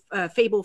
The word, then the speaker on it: Fable: to say it but someone told me it's like table just with an f i'm like oh okay